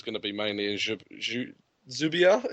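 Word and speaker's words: Dzyuba: to be mainly in zuia is that how you pronounce it zba zba that's Juba I'm reliably informed but you can have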